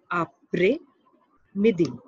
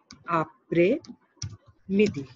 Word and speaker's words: après-midi: Afternoon is pronounced as après midi. Après midi. S is silent.